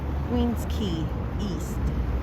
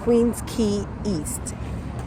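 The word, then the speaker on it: Queens Quay East: And actually அதோட pronunciation குவீன்ஸ் கீ ஈஸ்ட். அதோட pronunciation குவீன்ஸ் கீ ஈஸ்ட். அதுதான் அதோட ஆக்சுவல் ப்ரொனவுன்சியேஷன்.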